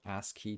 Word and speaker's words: ASCII: got creative uh there's a thing called ask key to art um that's spelled ascii um i forget what